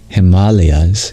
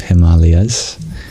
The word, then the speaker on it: Himalayas: the Sanskrit pronunciation of Himalayas that's one Sanskrit word that many people know um uh if it were Himalayas then it would be spelled with an E between the L and the Y but yeah it comes